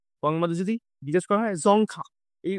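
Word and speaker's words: Dzongkha: আমাদের গোয়ার সরি বাংলাতে যদি বিশ্বাস করা হয় জংখা এই উচ্চারণটা আমার একটু পিকুলিয়ার টাইপের লাগে মানে অদ্ভুত টাইপের মনে হয় এটাকে আমি জংখা হিসেবে মনে রাখি ঠিক আছে জংখা জংখা হলো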